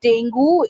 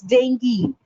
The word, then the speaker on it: dengue: It's not dengue, it's dengue. It's not dengue, it's dengue.